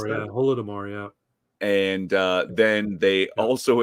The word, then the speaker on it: Holodomor: Is that how you pronounce Holodomor, that? yeah. Holodomor, yeah.